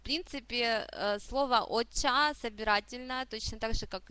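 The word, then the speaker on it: お茶: Обратим внимание на чтение слога ча, оча, оча. Я тут написала, что слово оча может переводиться как японский чай, а также может переводиться как зеленый чай. В принципе, слово «оча» собирательное, точно так же, как и «саке».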